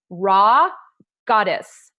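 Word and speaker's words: Rha Goddess: And I had the amazing opportunity to listen to a woman by the name of Raw Goddess. That is her name. It's spelled RHIGODESS.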